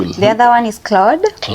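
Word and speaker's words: Claude: The other one is cloud. Cloud. And this is not cloud like it's not the cloud in the sky.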